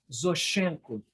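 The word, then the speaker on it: Зощенко: a lista dos que vamos nos demorar estão zoshchenko se escreve Zé o SH ch é n k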